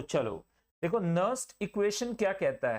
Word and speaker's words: Nernst: तो आप याद रखिएगा देयर इज नो नस्टिंग ऑफ नर और नारी here. The only thing is इट इज नस्ट equation. तो यहां पे एन साइलेंट रहता है। नस्ट इक्वेशन आप इसे बोलेंगे।